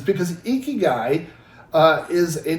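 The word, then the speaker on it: ikigai: He said, I'm going to be talking about uh, Eeky Guy.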